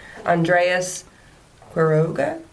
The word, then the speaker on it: Andreas Quiroga: Sorry, in the meantime, while you're thinking, this is from another producer from Stalked, Andreas Quiroga.